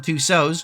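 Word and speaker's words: Tussauds: were actually at Madame Tuso's which by the way is spelled like Tusid and I didn't know that until this video which is funny to me.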